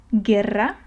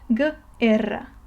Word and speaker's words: guerra: effects of the E, but the U ends up being silent. So the U kind of sacrifices itself, you don't read it, in order for the G to be pronounced in the easier way. Okay, so guerra, you just read the G in its normal form, and then you read the rest of the word.